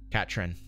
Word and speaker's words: Catherine: there is no Catherine Catrin as she's supposed to be pronounced I think iPhone kya